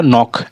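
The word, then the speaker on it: knock: के से पहले, एन से पहले के है, इसी कारण से हमारा जो एन क्या होता है, के हमारा साइलेंट होता है।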